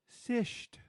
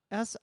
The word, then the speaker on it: cishet: How do you think that one is pronounced? Sished. or it looks like cishit. Yeah. Cishet. Yeah.